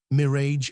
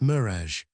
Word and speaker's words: mirage: "Mirrage and marriage." "1,000 I a G is pronounced Mirage," said Valency shortly, picking up her tea and her beans.